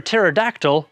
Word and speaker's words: pterodactyl: Do you know why you can't hear a pterodactyl go to the bathroom? That's because the P is silent.